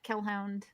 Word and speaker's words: kellhound: am on Twitter at kellhound uh which is spelled like hellhound bill with a K and I'm on Blue